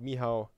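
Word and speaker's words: Michał: The only Michal, pronounced Mihao.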